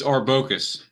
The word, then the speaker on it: Arbocus: now how did I screw that up it's orcus okay see I'm from the Midwest I would read it as arbody mispronounces it wrong it's all good and you've